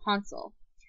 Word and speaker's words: Hansel: Americans we pronounce it Hansel and Gretel um they pronounced it in the German the correct German form Hansel um gredle stayed the